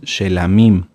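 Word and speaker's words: שלמים: las ofrendas de shalom lo correcto es shamim shamim las ofrendas por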